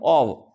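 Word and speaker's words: of: घटित होना और कम ओव इसको ऑ बोलते हैं ना इसको ओव इसका इसका उच्चारण रहता है ओव कम ओव तो कम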